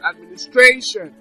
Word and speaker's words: administration: syllable from the end for instance Administration so now that's the five syllable Administration now so the stress is on stration it's Administration so we have authenticity